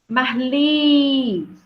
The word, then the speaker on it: Marli: Marli. Ó, qual é a sílaba tônica? É a última, não é?